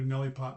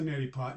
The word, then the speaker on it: neti pot: Okay, so you open it up, and you open up your little neti pot, and my brother calls it a Nelly pot, but that's okay. It's a neti pot.